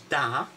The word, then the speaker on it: da: three with the with the word for good which is da yeah would you like yes in russian da yeah so you've got